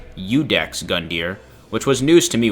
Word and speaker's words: Iudex Gundyr: Also, his name is officially pronounced Iudex Gundyr, which was news to me when I learned that. In my head, I'd been calling him Iudex Gundyr this whole time.